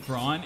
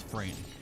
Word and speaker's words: Fran: running out of MP keep saying fraud it's friend I don't know why I give it the German like pronunciation other than the fact that fron and Vaughn like rhyme and that's what he